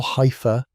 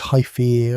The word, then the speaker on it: hypha: Each thread, or hypha, pronounced hypha, grows at its tip, extending outward like